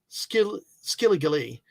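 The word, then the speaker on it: skilligalee: It's Skillygale. Only Shelby Foote, the historian, could pronounce that the right way. Skilligale.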